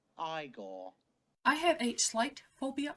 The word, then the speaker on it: Igor: this point you must be igor now it's pronounced igor i have a slight phobia of eyes i